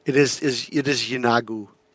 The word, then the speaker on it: Yeenoghu: Also, they uh Derek, you Sorry to interrupt, you were It is is It is Yeenoghu.